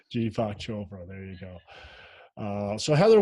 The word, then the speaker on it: Deepak Chopra: Deepak Chopra. Deepak Chopra.